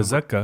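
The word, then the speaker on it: تزكى: Like Tazkiya, Tazakka, right? That's a Z, right? It's not a the, it's a Z. The folks who pronounce it Zalikal, but it's a the, will pronounce the same one, Tazakka the right way.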